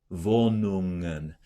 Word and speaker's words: Wohnungen: Wohnungen. Be careful when you close to the NG. Another common trap is to explode the G. Wohnungen. That's too much work.